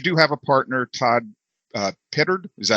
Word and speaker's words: Pittard: I love the name 2FunGuys because you do have a partner, Todd Pittard. Is that how you pronounce his name, Pittard?